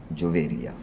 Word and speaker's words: جویریہ: بتلا رہا تھا کہ عام طور پہ ہم جویریہ کہہ دیتے ہیں لیکن صحیح تلفظ کیا ہے؟ جویریہ، جویریہ، ٹھیک ہے۔ حضور صلی اللہ